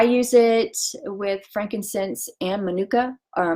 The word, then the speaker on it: manuka: I use it with frankincense and manuka, or monica is how they pronounce it.